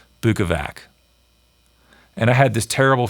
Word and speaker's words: Bukovac: He put out a video like the next day, and that video was called Pronounced Bukovac.